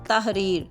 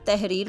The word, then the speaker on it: تحریر: الطاف، اخبار۔ لفظ ہے تحریر، جس کو عام طور پر تحریر بولا جاتا ہے۔ اس کا صحیح تلفظ ہے تے پہ زبر، ہے ساکن، رے کے نیچے زیر، یہ ساکن اور رے ساکن، تحریر۔ اور لفظ ہیں اس